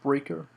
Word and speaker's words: Spreaker: You can see I got the email verification there from Sp uh Spreaker and it is pronounced Spreaker.